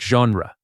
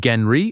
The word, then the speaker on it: genre: This French borrowed word sounds like genre, not genry or genre.